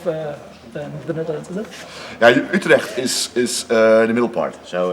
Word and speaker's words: Utrecht: From You pronounce it very well. Utrecht in the Netherlands.